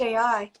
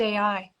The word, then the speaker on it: Io: called Io, or it's pronounced AI. Hmm? One of Say Jupiter's that again. moons is Io, which is pronounced AI.